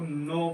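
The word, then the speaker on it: know: Silent हो जाता है। तो इसको नो पढ़ेंगे।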